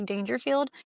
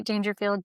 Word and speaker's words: Daingerfield: My handle is Daingerfield, not Rodney Dangerfield. I do spell it different, but it is Daingerfield, DAINGERFIELD.